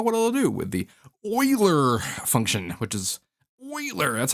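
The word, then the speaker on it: Euler: don't actually know what it'll do with the oiler function which is oer that's how you pronounce thater eer and humer eer and hum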